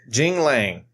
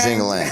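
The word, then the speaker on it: Jingliang: Is that how you really say his name, Jangaling? Or are we talking shit? It's Jing Lang. J-I. Jingalang. So it is not Jangalang.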